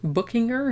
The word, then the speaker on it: Buchinger: Buchinger, I guess, is like the German way of saying it.